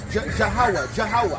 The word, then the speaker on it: Yahweh: It's ha and wa.